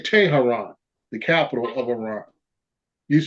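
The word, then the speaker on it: Tehran: is today you know T I should say Taran the capital of Iran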